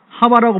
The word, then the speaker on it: 하와: 그니까 하와 하와가 더 그 정확한 발음이죠.